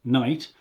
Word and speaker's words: knight: So night with a k, night, but pronounced night, is a warrior in armor, metal armor.